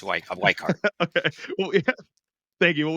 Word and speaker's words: Weikart: I mean when when I'm in Germany I pronounce it viart because that's it is a German name but viart it's wart okay we thank you well we have Dr